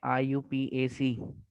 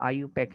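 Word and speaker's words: IUPAC: साथ ठीक कर लीजिए अगर आप इसे पढ़ते हैं आई यू पी एसी बहुत सारे टीचर्स हैं यहां तक य आप तो स्टूडेंट है बहुत सारे टीचर इससे पढ़ रहे होते हैं आई यूपीएसी आईयूपीएसी से पढ़ना गलत है इसकी जो प्रोनाउंस है वो आईयू पैक है इसीलिए देखें बुक के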